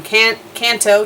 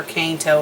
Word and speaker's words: Kanto: of this world from Kanto to Sinnoh or the proper pronunciation for cane toe is apparently Kanto but I'm so used